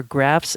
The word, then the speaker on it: graf: I am actually finding more and more graphs that are really well made. And I want you to just, if you're not familiar with that term, it's spelled GRAF, graph.